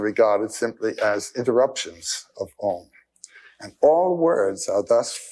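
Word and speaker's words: AUM: You start in the back of the mouth, ah. And then oo, you fill the mouth. And closes at the mouth.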